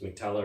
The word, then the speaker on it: Mac-Talla: So, I've gone for Mac-Talla. I assume that's how you pronounce it. It's Mac-Talla.